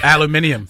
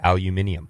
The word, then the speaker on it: aluminium: Aluminium. See, this is the problem. In Australia, there's an extra I in the word, aluminium.